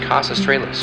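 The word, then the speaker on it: Kaus Australis: The brightest star in Sagittarius is pronounced Cas Australis, which means southern bow.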